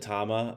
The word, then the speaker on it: Tama: And I pronounce it tama.